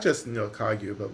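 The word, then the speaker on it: Kagyu: So is it Kaguyu? Is that correct? Yeah, you can get kagu or kaju.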